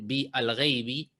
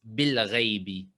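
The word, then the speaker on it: بِالْغَيْبِ: Entonces, en vez de decir bi al-ghaibi, es bil-ghaibi, como acá, bil-ghaibi. Se escribe la a, pero no se lo pronuncia.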